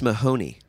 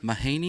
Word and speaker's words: Mahoney: be here sergeant-major one each yeah and Bryce Mahoney hello did I pronounce that right you did okay there we